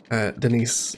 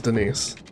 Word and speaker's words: Denise: for the town of Denise, or Denis as she tells people is how it's pronounced, which of course it isn't. It's pronounced as Denise.